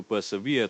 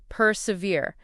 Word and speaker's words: persevere: Or to truly achieve greatness, one must be willing to persevere through challenges. It embodies that never say die attitude. For pronunciation, it's persevere. Three syllables with the stress on the last syllable. Ve persevere.